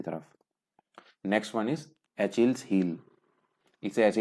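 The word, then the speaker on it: Achilles: Next one इज एचिल्स heal. इसे ऐसे ही pronounce करते हैं, इसका मतलब होता है वीक पॉइंट, किसी का कमजोर पक्ष।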